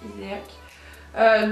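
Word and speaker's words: Hyséac: Donc c'est la Iséac, ça dépend comment vous le prononcez, moi je dis Iséac.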